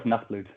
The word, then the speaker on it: Nachtblut: No, but honestly, Ablaz is correct as well as Nachtblut.